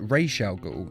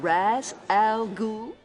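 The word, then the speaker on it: Ra's al Ghul: thought you'd be taller instantly his name is pronounced Rael go though in the live action DC movies and TV series he is often called Raz now ah am I pronouncing this right Mr Raz Al no you are not it is pronounced re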